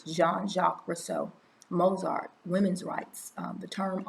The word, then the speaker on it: Jean-Jacques Rousseau: saying his name but it looks like john but it's pronounced like gene but it's jean-jacques rousseau mozart women's rights the